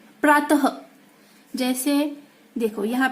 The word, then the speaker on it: प्रातः: इसका उच्चारण हम कैसे करते हैं? प्रातः। हमें इसका उच्चारण क्या करना है? ह। कैसे करना है? ह। इसे हम क्या कहेंगे? प्रातः।